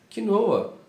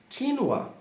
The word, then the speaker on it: quinoa: E muitas pessoas dizem quinoa, porém na verdade se diz quinoa.